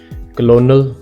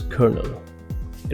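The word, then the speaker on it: colonel: है actual pronunciation digestion क्लोनल नो इट्स कर्नल received no it's receive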